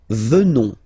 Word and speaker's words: venons: Nous venons. Okay? O-N-S, classical ending for nous. Okay? Final S not pronounced. So O-N, on, venons.